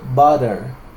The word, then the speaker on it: butter: mantequilla se escribe Así cuando yo la pronuncio lo que yo hago es Modificar el sonido de la t por una r digo butter buttero eso hace eso hace